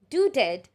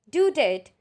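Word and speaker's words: Daudet: last lesson is by author alphonse dudett right pronunciation is due date the story reflects on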